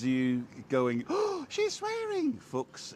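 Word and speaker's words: Fuchs: going oh she's swearing Fox is the German word for fox and it's spelled f-u-c-h-s Focus yeah yeah there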